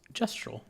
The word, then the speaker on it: Gestral: That this is actually pronounced gestro soft g. So it is gestro village gestro merchant.